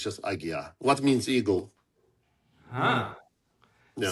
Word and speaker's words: Aguiar: But in my last name, also they pronounce with L, Aguilar instead of Aguiar. And sometimes I just want to make sure that there's no L. It's just Aguiar, not Aguilar, because that's what really